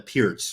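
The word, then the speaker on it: Pirc: have a YouTube video called Canty works the perk I mean I've never had a problem with the perfect event or in fact it's called a pierce right for the people that are like sticklers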